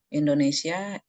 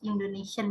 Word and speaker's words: Indonesien: Halo Leute, ich heiße und ich komme aus Indonesia. Meine Wohnung in Samarinda, Genau, Selendang. bitte. Danke Bu, hanya kesalahan sedikit pada Aussprache ich komme aus Indonesien ya.